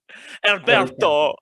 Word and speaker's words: Alberto: Alberto.